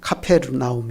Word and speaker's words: 가버나움: 하는 이말 자체에 있습니다 가버나움 히브리 식으로 발음하면 카페르나움 있니다 카페르 동네라는 뜻이고 나음은 위로